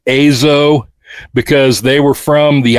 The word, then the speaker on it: EZO: The name of the band should actually be pronounced Azo because they were from the island of Hokkaido whose original name was Azo.